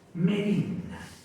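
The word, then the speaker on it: μέριμνα: que es el afán el afán en griego se pronuncia merienda que quiere decir lo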